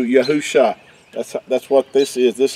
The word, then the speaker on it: YAHU Sha: These letters make in Hebrew YAHU Sha.